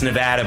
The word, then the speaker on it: Nevada: It's Nevada, by the way, for those of you who want to know. Do not use the other pronunciation. I've known enough people from Nevada and they get upset if you don't say Nevada. There it is.